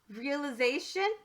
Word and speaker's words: realization: Realization. And you'll notice that that I changed from the long I sound to a short I sound. So it went from realize to realization.